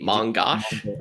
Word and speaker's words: mongosh: - Mongosh. - S. - M-O-G-O, I mean, it's one of those things that's it's MongoDB shell, so I call it Mongosh.